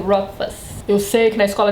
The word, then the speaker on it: Rothfuss: Esse th aqui não é pronunciado, viu gente? Agora se você tiver com muita, mas muita vontade de pronunciar, pronuncia só o T. Bem suavezinho. Rotf.